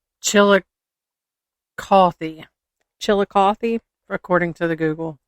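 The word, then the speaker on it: Chillicothe: F y i, it's pronounced Chilli- cothy.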